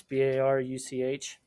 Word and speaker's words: Baruch: Baruch Spinoza, which is spelled Baruch. That's Baruch.